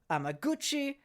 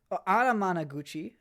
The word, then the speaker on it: Anamanaguchi: check that real quick oh my apologies I was saying the band name wrong uh Animan Gucci uh did some music for this uh let's see here uh it's an album from Lakeshore records with music from Anam Anamanaguchi apologies and Jo Joe